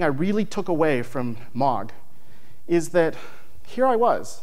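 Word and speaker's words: MAAWG: that's pretty much it nobody can really pronounce it it's called it's mog and it's the message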